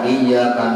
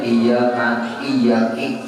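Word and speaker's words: إِيَّاكَ: Mengetahui tuh membaca iyyaka na'budu wa iyyaka nasta'in. Kalau dibacanya iyyaki na'budu wa iyyaki nasta'in, tahunya bacaan itu haram karena merubah arti, batal sembahyang.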